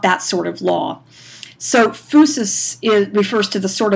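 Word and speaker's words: physis: the fusus now fusus is pronounced with the F and the u sound fusus but it's spelled like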